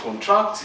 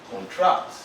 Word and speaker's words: contract: Some words too could be used as noun and as an adjective at the same time. In that situation, as an adjective, first syllable. As a verb, second syllable.